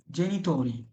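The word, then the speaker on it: genitori: ই জেনিতোরি, জেনিতোরি, জেনিতোরি। এখানে জেনিতোরি হলে কেন? জি এর পরে এ আছে, যেন জমত উচ্চারণ হচ্ছে।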